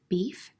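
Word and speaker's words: bife: portuguese it means snack beef is pronounced exactly the same way in portuguese beef but it means steak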